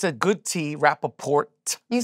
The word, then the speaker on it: Rapaport: name but it's it's you got to pronounce the T right that's not right that's not normal the T well cuz yeah I don't know why sometime it's a it's a good tea Rapaport you say the tea